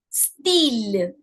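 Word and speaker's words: style: Why is it steel? Now looks exactly the same word in English means exactly the same but in English it's Y and it's styling. Okay. In French because the alphabet Y in itself has a sound of E. I'll just put it there and let it flow. So it's steel.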